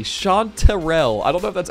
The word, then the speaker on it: chanterelle: this thing anyway so it is sean terrell with an e-r-e-l-l-e chanterelle i don't know if